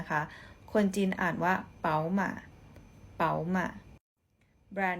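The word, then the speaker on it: 宝马: มา BMW นะ คะ ควร จีน อ่าน ว่า เป๋า ม่า ม๋า มา แบรนด์ นี้ นะ คะ แบน กาแฟ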